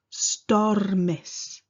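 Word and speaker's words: stormus: often struggle to pronounce that letter u makes an e sound star mis star mis stomy star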